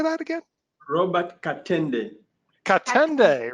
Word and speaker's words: Katenda: have Elliot, Neff, and Robert, how do you pronounce your last name? Katenda. Robert Katenda. How do you say that again? Robert Katenda.